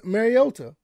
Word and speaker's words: Mariota: on with uh Marcus Mariota you know somebody tried to get on to me about pronouncing his name that I need to pronounce the T and I'm I'm I'm making it with the Y whatever I just thought